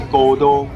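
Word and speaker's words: 神戸: 神户站到了，这个神户站的读音是 Godo，不是关西地区那个 Kobe 的神户哦。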